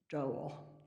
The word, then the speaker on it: Doel: Yours faithfully, Frank Doel. And I know it's pronounced Doel because somewhere else I read that it rhymes with Noel.